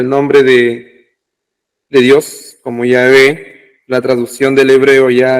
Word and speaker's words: Yahvé: por toda Europa medieval, la letra inicial J se pronunció según la lengua vernácula local, en lugar del latín. Sin embargo, la pronunciación Yahvé no dejó de utilizarse y hoy sigue siendo una manera correcta de referirse al Dios de la cultura judeocristiana.